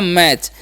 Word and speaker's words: match: ठीक है, तो एम का उच्चारण करेंगे म, ए का उच्चारण ए और TCH का उच्चारण जब भी रहेगा तो उसका उच्चारण च कर देना। ठीक है, तो हो गया मैच।